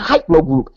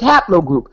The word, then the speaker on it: HPL group: make you got to learn how to pronounce hpl group it's not hypo group it's hpl group so I have to